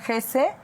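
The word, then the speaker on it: Hesse: Como si Darta la novela de German Gese German Ges que me encanta que se pronuncia GES, ¿verdad?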